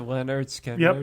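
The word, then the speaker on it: Lynyrd Skynyrd: Sick ass, the first one, pronounced to Leonard Skinner.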